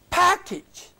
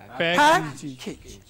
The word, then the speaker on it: package: Package. Package. Cabbage. Package. Baggage. You know, so package. If you say package, as I heard you'll excuse me, normally people say sometimes package. It is un-English.